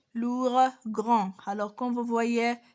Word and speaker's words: lourd: Deuxièmement, deuxième adjectif, nous avons ici lourde, c'est un adjectif féminin, mais son adjectif masculin c'est lourd. On ne dit pas D, on ne se prononce pas D, on ne dit pas lourde, on dit lourd.